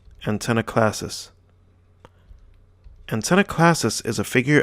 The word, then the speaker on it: Antanaclasis: a big word so let's break it down and pronounce it so ant n AK class sis antenna classes antenna classes is a